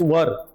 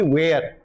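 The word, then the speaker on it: were: तो वाज या वर, यानी वेयर पढ़ लेते हैं हम लोग इसे इंडियन फोनेटिक्स में, बट the right pronunciation in British phonetic is वर, नॉट बी वेयर. बट इन इंडियनिज्म वेयर is used in India. V3 है यहाँ पे, तो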